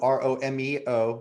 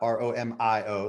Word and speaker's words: Romeo: That's Romeo, Romeo, not Romio, like some people like to spell it.